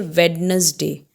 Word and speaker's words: Wednesday: We say Wednesday, but we don't say Wednesday, we say Wednesday. So here D is silent.